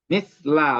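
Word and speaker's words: مِثْلَ: In kana bainahu wa bainal mawdil ladzi tu'malu fihi misla. Oh ya, bacanya misla bukan mislu ya.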